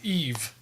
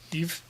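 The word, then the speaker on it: Yves: And his reply was, I believe it's spelled the French way, Y-V-E-S, Eve, as in like... in a dude. Like the French Ivan, Eve.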